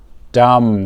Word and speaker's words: dumb: Number 2, be dumb. This means not intelligent, and we don't pronounce the B.